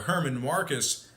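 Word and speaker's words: Germán Márquez: We have Walker Buehler for the Dodgers, German Marquez for the Rockies, or Herman Marcus, as their radio announcer would pronounce it as.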